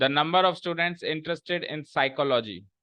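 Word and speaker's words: psychology: Second, the number of students interested in साइकोलॉजी। ये साइकोलॉजी है, ये साइकोलॉजी नहीं है, पहली बात तो। इसमें पी साइलेंट होगा।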